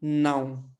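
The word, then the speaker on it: não: तो एन से क्या है, नाउ, ठीक है, नाउ, ठीक है।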